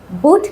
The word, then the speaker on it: but: IPA সিম্বলের কারণে উচ্চারণগুলো কিন্তু একই রকম লেটার থাকার পরেও ভিন্ন হতে পারে। যেমন PUT এর জন্য IPA সিম্বল আছে ফুট, ফুট। পরেরটা দেখো BUT, আর IPA সিম্বল আছে বাট। তাহলে এখানে লেটারগুলো একই রকম থাকার পরেও উচ্চারণটা আসছে IPA সিম্বল থেকে। IPA সিম্বল অনুযায়ী উচ্চারণগুলো ভিন্ন হচ্ছে।